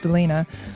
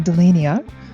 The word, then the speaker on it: Delina: I can't tell you how many different ways people have pronounced Delina over the years especially my English teachers would call me de lis Nia for some reason so yeah I feel